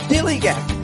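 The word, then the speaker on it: DILLIGAF: That's spelled D-I-L-L-I-G-A-M. Dilly Gaff.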